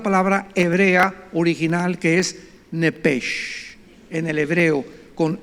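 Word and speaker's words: nefesh: suena nada más que la ch en el hebreo se pronuncia como J se pronuncia como jota y es la palabra en todo el nuevo Antiguo Testamento que se usa para el alma nepech versículo 29 y exhaló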